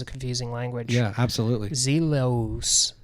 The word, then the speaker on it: Zellus: Zelos is what it really looks like phonetically.